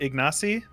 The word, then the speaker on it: Ignacy: that i have for you how do you pronounce the the polish prime minister in world war ii is it ignacy yeah ignacio ignazo okay because uh the surname